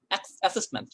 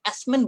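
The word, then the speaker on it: assessment: অ্যাসেসমেন্ট, ওকে, এটাকে আপনি অ্যাসমেন্ট বলেন, ভুল প্রোনাউন্সিয়েশন, স্কোর পাবেন না। আপনাকে অ্যাসেসমেন্টকে অ্যাসেসমেন্টই বলতে হবে, স্পোকেনকে আপনি স্পোকেনই বলতে হবে।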